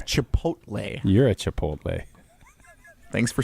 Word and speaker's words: Chipotle: lapped by Tucker craft chipot can you not say Chipotle chipot chipot why are we giving chipot like what are we doing it's Chipotle you're a Chipotle thanks